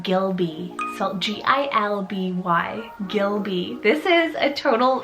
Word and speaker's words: Gilby: boy side i have the name gilby so g-i-l-b-y gilby this is a total vintagey sounding name